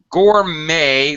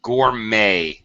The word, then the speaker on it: gourmet: never heard that before gourmet the T is silent yes goodnight a is